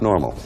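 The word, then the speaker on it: NORML: marijuana m laws l so it's pronounced normal that was our in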